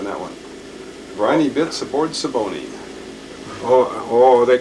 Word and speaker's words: Siboney: better print on that one Briny bits aboard saboni oh oh they call it the siboney oh that's how you pronounce it this is their pictures when when